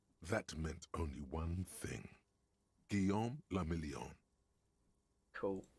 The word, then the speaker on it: Guillaume le Million: Guillaume le Million. Cool. If it doesn't rhyme, you're not pronouncing it right.